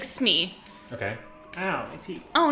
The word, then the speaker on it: Smee: I was like, it's not Shmee, it's just Smee. It's very, very simple. But that's fair. He was like, Shmee. And I was like, you put 2 syllables on a 1-syllable name.